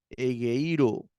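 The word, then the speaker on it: ἐγείρω: espíritu suave ya heiro heiro acento en la yota egiro heiro heiro que significa despierto Me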